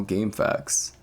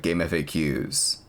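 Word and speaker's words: GameFAQs: Oh cool, my own personal game facts. We talked this to death like many times, I know. But do you say game facts or say it wrong, like game FAQs?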